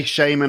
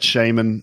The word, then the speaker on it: shaman: both are correct yeah i say shaymin i've just always said shaman but shaman fine potato you know tomato tomato whatever i always try to notice you know the words which you can pronounce differently and both are correct there are quite a